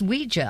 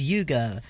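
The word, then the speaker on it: Uyghur: Yes, Ouija. I'm glad you told me about the pronunciation of this because I I mentally I have it as yugo rather than anyway.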